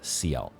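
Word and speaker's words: Sciel: the gestal arena, and I think Gustav pronounces it Seal.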